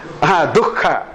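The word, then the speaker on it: दुःख: If there is a visarga followed by ka or ka, when we pronounce, ha must come. Antah karana and the h must come. Dukha. Du, visarga and ka. Dukha.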